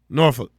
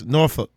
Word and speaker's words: Norfolk: again Michael Vic no norfol norol it's norol act like you saying the f word yo yo yall got